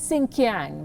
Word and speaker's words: Xinjiang: so we accept it did you notice the pronunciation he says sing kyang that's what the uyghurs called the region before the communist party took control and gave it a chinese name xinjiang before the uyghurs were